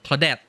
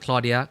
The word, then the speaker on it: Claudette: getting your name wrong Claudette not Claudia Claudette okay Claret and Dwight